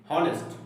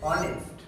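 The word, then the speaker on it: honest: এইচ ও এন ই এস টি কি বলি হনেস্ট অনেক সময় আমরা বলি হনেস্ট এর সঠিক উচ্চারণ কি হবে অনেস্ট অনেস্ট এইচ ও এন ই এস টি আমরা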